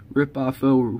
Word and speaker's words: Ripoffo: These Ripoffo rhymes with Adolfo.